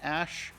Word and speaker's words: æ: being linguistically correct and going with the pronunciation ash um that is how it is pronounced so we're sticking with